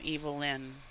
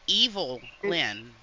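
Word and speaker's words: Evilyn: l-h l y n evilin hello hello no it's evil Lyn oh okay okay off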